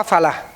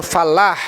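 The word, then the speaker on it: فلاح: Tapi kalau hayya alal falah apa falah? Hah? Bukan. Itu fallah. Itu petani mahfallah. Ini falah dengan H gede biardin falah eh tib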